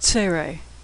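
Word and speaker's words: צירה: and put next is sarey two dots side-by-side it's pronounced like the a and neighbor or they sometimes it's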